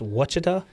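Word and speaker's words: Ouachita: wachita baptist it's got it's spelled o u a c h i t a but it's it's almost like a w sound so it's watchita do you know i'd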